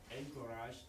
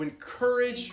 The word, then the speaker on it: encourage: The reason I didn't understand that was a different stress. I heard encourage or something. First syllable. That's what you're doing. And you just said it right the second time just now.